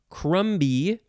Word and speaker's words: crumby: the c-r-u-m-m-y version or crumby although i don't think you would pronounce the b c-r-u-m-b-y but it's just crummy adjective from 1567 number